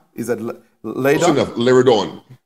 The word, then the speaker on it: Liardon: Am I pronouncing it right? Is it Liardon? Liardon. Liardon.